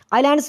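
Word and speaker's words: islands: ये बताना है कि ये जो वर्ड है आइलैंड्स इसमें मतलब है जो साइलेंट मतलब एक लेटर कौन सा है एस है ए है आई है या आन है इसका राइट आंसर बनता है एस और ये जो एस है ये साइलेंट है अगर साथ मतलब क्वेश्चन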